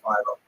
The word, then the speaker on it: Philo: Rhymes with Milo, right? So certainly makes sense, and that's corroborated by all the websites I could find that tell you how to pronounce Philo. The problem is in Greek, it's clearly philo. It's actually philo in Greek with an N sound at the end.